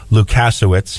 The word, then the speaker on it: Lukas: Helping provide us with business empowerment is our guest, Lula Lukas. Now, am I pronouncing the last name right?